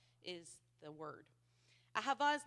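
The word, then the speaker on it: אהבה: It's uh it looks like a but the Hebrew lettering is um it's pronounced differently. So it's aaba is the word. A hava is not a warm fuzzy feeling or emotional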